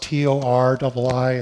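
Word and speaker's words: torii: It's pronounced T-O-R-I-I.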